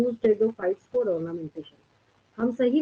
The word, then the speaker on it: Pteridophytes: चलिए अब हम लोग टेरिडोफाइट्स पे चलते हैं, ठीक है। यानी प्लांट की नेक्स्ट कैटेगरी जो है आपके पास, यहाँ पे 3 साइलेंट होते हैं, ठीक है। टेरिडोफाइट्स, इवन कि इसके जितने एग्जांपल्स आएंगे सब में 3 साइलेंट होगा।